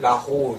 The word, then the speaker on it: rose: 그래서 끝 에 'O' 와 'e' 가 붙으면 보르도나 다른 지역 사람들 은 " rose" 나 "chose" 라고 발음 할 수도 있지만 , 정확 한 발음 은 "La ro" 입니다 . 라 로 . 라 가 선택 했다 . 라 쇼 . 폭 이 좁아지니까 소리 가 좀 더 듣기 좋게 들리네 요 . 그래서 이것들 은 좁은 ' 오 ' 소리 가 나 는 겁 니다 .